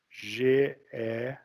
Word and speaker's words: Geppert: Se escreve G-E-P-P-E-R-T.